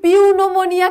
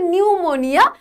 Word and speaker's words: pneumonia: He was so overwhelmed with grief that when he himself went down pneumonia, এটা কিন্তু পিউনোমোনিয়া কেউ বলবে না, এটা হচ্ছে নিউমোনিয়া। এই পিটা হচ্ছে এখানে সাইলেন্ট, এটার প্রোনাউন্সিয়েশন বা উচ্চারণ হবে না।